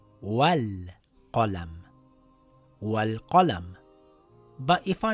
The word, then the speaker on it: وَٱلْقَلَم: When we are reading these two words together, we have to drop the Hamzatul Wasl. It now reads Wal Qalam.